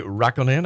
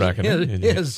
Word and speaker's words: Räikkönen: Kimi Räikkönen, I believe I say her name. That's right. Yes, it's Kimi his. Räikkönen.